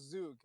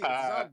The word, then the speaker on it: Zug: Because FMC, dude, he told us 100% sure it was Zug. So FMC, it's Zug, bro.